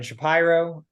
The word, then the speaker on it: Shapiro: know you yet uh my name is shapy pronounced correctly I'm from Philadelphia go Birds uh and